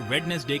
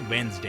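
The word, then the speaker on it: Wednesday: प्रयास करें कंफर बो और वेनसडे के बारे में क्या ख्याल है इसका उच्चारण अक्सर वेडनेसडे के रूप में गलत तरीके से किया जाता है लेकिन सही उच्चारण वेनसडे है यह छोटे-छोटे बदलाव इस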